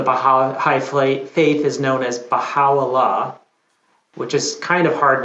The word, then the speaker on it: Baha'u'llah: Right, Baha'u'llah. But I know I'm not doing it to the correct like Persian pronunciation, but that's as good Okay. as I get.